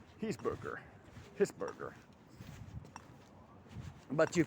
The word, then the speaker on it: Hesburger: Hisburger. But you pronounce it any way I want, because if